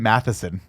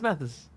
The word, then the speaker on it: Mathis: Nicky want to say Tim Matheson no just Mathis no it's Mathis Mathis I the bike why are you adding more why are you adding more syllables this is what does